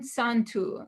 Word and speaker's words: Santu: Bon Santu, good holiday. And Santu is actually the word Yom Tov, because the Y is pronounced S in Judeo-Provençal.